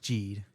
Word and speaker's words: Geed: It's pronounced ged.